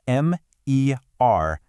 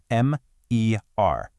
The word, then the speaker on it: MER: It's pronounced M-E-R, Connect. You really want to clearly enunciate each individual letter, right? M-E-R.